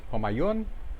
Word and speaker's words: Homayoun: Hello, hello, back again and playing, well, casting a game between, I just found out how to pronounce his name, it's Homayoun and Total Scrubblord in Division 5.